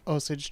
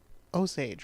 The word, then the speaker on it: Osage: land along the great Osage trail no I didn't say that right Osage right that's how they say it I've always heard Osage but neither pronunciation really sounds like a native pronunciation but I don't know